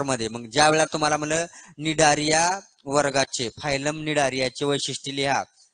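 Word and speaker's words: Cnidaria: तर कोलियन राटा आणि इकडे जे आहे काय आपला निडारिया सी सायलेंट आहे सी एन आहे बरेचश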